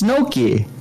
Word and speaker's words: gnocchi: It's gnocchi. Oh, jeez, why? And I call them gnocchis. Why? It sounded like you were saying it with an M, not an N. Really? I usually try to pronounce the G by accident.